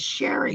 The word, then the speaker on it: Shari: And I finally one night I said, "It's Sherry, like Mary. It's just." And he was like, and for like a year, that's how he called me, was Sherry Sherry, like like Mary.